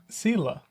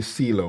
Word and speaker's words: Sylla: Are you telling me how you pronounce it again? Sylla. I almost wanted to say Sylla, but it's. Sylla.